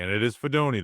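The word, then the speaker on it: Fidone: Uh, in round seven pick 219, the Giants selected Nebraska tight end Thomas Fedoni. And it is Fedoni. That's how you pronounce this, not Fedon like we like we first thought.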